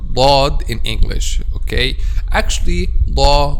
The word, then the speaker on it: ض: of the tongue, but when you pronounce letter dad we use the back sides of the tongue with the molars.